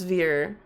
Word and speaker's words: Veer: Veer? Rhymes with near or leer. Okay, so it's Veer.